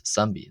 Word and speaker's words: ⲥⲁⲙⲡⲓ: It is a symbol representing the number 900 which of course is sambi. Sami in Coptic. I've entitled this next section extra pronunciation rules for Coptic.